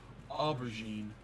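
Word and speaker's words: aubergine: And Bacon um notes that they do have purple eggplant in the UK, but of course they call him an aberine. A what? Aubberine.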